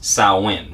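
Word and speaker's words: Samhain: they mentioned a couple of times has been sahwin right so if we look at saawan now it's uh s-a-m-h-a-i-n for those who would like to do a little bit of research on that but it's pronounced sauwen right and it is a gaelic festival making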